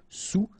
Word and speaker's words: sous: Sous-marin, okay, so E-N here, un, rein, marin, alright, and remember, sous, okay, final S not pronounced, so S-O-U, sous, sous-marin.